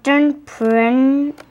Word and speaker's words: entrepreneur: You say it like this, or entrepreneur. It's a French word.